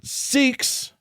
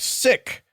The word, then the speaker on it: Sikh: The word S-I-K-H is pronounced Sikh, not sick.